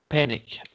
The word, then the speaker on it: panic: air did something horrible panic so this is related to Portuguese exactly that way so it's that the first syllable is strongest and we don't say